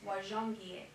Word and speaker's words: Wajongie: Gonze Gahike, this chief, this is Washunga, or that's how it's pronounced more in English or today. His way we say his name in Gonze is Wajongie. And Wajongie, he made the walk